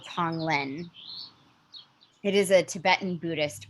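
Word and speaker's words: tonglen: what was happening so there's a practice called tong lin it is a tibetan buddhist practice and tong means to to send out to give and len is to accept and uh it's spelled t-o-n-g-l-e-n tong lin and i first um learned about it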